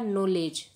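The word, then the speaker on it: knowledge: है है इसी प्रकार नॉलेज यहां देखिए आप नॉलेज की स्पेलिंग में के डब्ल्यू ओ डी यह साइलेंट है यानी इन का उच्चारण नहीं होता है जब स्किन को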